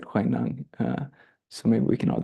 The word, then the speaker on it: Huineng: of Sensei Kathy, because it's spelled in a way where we want to say Huineng, which is often how we say it. And she gave a whole lecture once on, not a whole lecture, but she started her lecture because she studied Chinese on encouraging us to pronounce it Huineng.